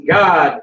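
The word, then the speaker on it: Gad: way in the uh no G A it's God in the Hebrew that's how you pronounce it and that's why I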